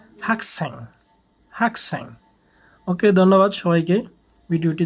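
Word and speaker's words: 학생: করবো ইয়াক ইয়াক উচ্চারণ করতে হবে শিকতাং শিকতাং হাকসেং উচ্চারণ হবে হাকসেং হাকসেং হাকসেং ওকে ধন্যবাদ সবাইকে ভিডিওটি দেখার জন্য আসসালামু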